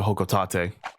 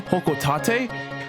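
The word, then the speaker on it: Hocotate: Also, yes, I've been saying the name Hokotate because that's how they say it in Super Smash Brothers, and that's the only recorded way they have said Hokotate. I used to say Hokotate because in the second game it rhymes with the job that Olimar's in.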